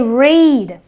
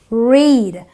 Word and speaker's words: read: It is the long E. So I say read. Okay. So the EA gives me a long E sound in my present tense. this is my past tense, which gives me the short S sound, and the long E is always there in my present tense, which makes it pronounced as read.